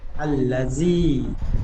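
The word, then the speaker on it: الَّذِي: আল্লা মাশাল্লাহ খুব সুন্দর আচ্ছা হোসাইন ভাই বানান করবেন এইটুকু আল লাল ইয়াজদি আল্লাজি আল্লাজি জাল ইয়াজের জি বেশি করে টান দিয়ে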